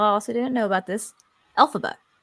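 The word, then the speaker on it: Elphaba: And also, in case y'all also didn't know about this, Alphaba is almost phonetically saying LFrank Bomb, who is the author of the Wizard of Oz. Okay, Alphaba.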